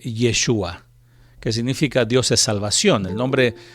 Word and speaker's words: Yeshua: hebreo es exactamente igual en hebreo se pronuncia joshua o como se escucha este frecuentemente yeshua que significa dios es